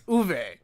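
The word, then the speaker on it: Uwe: say his name right it's uve is it when it comes to German a w is like a V it's two v's I'm so I can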